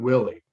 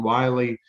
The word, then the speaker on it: Willey: So Willey. Did I say it wrong in the beginning? No, you had it. Okay, good. Because I always in my mind it was Wiley.